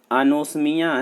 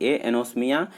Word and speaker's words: anosmia: तो बच्चा अनोस्मिया जिसका कि स्पेलिंग है ANOSMIA, एनोस्मिया, वो एक बीमारी ऐसी है जिसमें कि आप